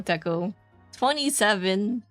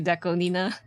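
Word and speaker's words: DECO*27: It's like when you're trying to say Deco, you know, Deco 27, but it's actually Deco Nina. But, you know, 27 works too, I suppose. There's some producers I love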